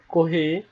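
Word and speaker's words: コーヒー: I like coffee যেমন কহি একটা বিদেশী শব্দ সরি এটা সাধারণত ইংলিশে উচ্চারণ করলে হবে কফি এবং জাপানিজা জাপানিজরা যখন উচ্চারণ করে তখন সেটাকে কহি উচ্চারণ করে তো কহি হলো একটা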